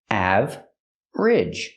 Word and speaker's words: average: with the word average we don't say average we don't make it three syllables we make it two syllables aage together average he was average